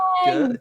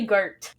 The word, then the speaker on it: Gurt: Gert, G-E-R-T. Yeah. Gert. G-U, like yogurt.